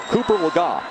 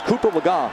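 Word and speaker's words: Cooper Legga: who was number three Cooper lagot and yes I know we pronounced the name earlier a different way but it's Cooper lagga who had never thrown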